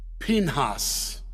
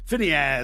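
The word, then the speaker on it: Phinehas: so what brought the end of the plague we get pinhas that's the I'm just impressing you with my Hebrew pronunciation which is probably bad if some if somebody knows Hebrew is here Phineas as I call him Phineas is what it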